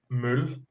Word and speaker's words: Møl: So, but there is, well, actually, to be really Danish right now, it's actually pronounced møl, the mole.